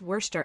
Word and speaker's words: Worcestershire: It's just Worcester actually. Like Leicester is just Leister.